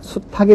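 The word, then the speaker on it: 수탉: 아니라 수캐가 되는 거고요 수닥 당연히 수닥이 아니라 수탁이 되는 거죠 그래서 이것들은 현실 발음을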